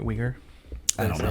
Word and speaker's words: Uyghur: Is that right, Uyghur? I don't know how to pronounce it.